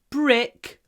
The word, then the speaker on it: brick: long R brck Bri make sure that the tip of your tongue doesn't touch the top of your mouth if that's the the